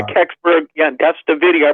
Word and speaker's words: Kecksburg: Is it Kecksburg? Is that how you pronounce it? Untold Story. Yeah, Kecksburg.